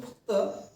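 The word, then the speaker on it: Foucault: तर तो notable person त्याच नाव आहे मायकल फक किंवा त्याला फुक सुद्धा म्हणतात आता मराठीच्या जर इतिहासाच्या पुस्तकात त्याला मायकल फुको म्हणतात आणि इंग्लिश मध्ये त्याच स्पेलिंग आहे मायकल पकड ठीक आहे तर तुम्हाला जसं वाटते तसं तुम्ही म्हणू शकता काय त्याचं नाव मायकल्ट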